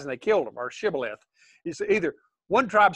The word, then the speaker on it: shibboleth: what i mean because you can pronounce it either way but that's that's kind